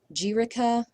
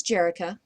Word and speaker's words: Jerica: here we have Jerica not many different ways you can come up with saying this but you could say Jerica or jica um but her name is Jerica so some people are